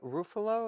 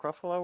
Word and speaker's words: Ruffalo: And Marco Mark Ruf Rufo. Is that how you say it? Ruffalo.